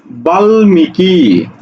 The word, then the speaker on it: বাল্মীকি: ওকে, এবার দেখো বাল্মীকি, দেখো বয়াকাল লবাল, মরিষি করিষি মিকি, অর্থাৎ এই জায়গাতে ময়ের উচ্চারণ হচ্ছে।